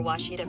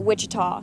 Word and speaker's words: Ouachita: Searching for Washita Baptist University. Back in Texas, everybody pronounces it Wichita, but really, it's Washita. Washita.